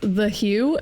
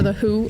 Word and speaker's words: The HU: I love it alright it's the Hugh it's there the who depending on how you say it it's the and then